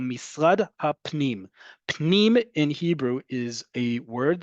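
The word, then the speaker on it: פנים: Okay, listen to how I say it and look at how it's spelled in column D. Pnim. I get that sound is difficult. However, just because it's difficult and it's not common in English doesn't mean other languages don't have it.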